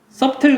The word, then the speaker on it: subtle: 어떻게 될까 여러분 처음엔 이 단어 subtle 인데 써 틀 그럼 이상 해야 mp 가 묵음 입니다 애가 발음이 안 돼 말 없을 목차 서서